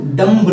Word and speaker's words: dumb: देखो, अब इसे डम्ब नहीं पढ़ते हैं, डम्ब नहीं पढ़ते हैं, वी साइलेंट रहती है, हम सिर्फ इसका उच्चारण इतना करते हैं, डम जम डम जम डम, मतलब बा नहीं पढ़ते।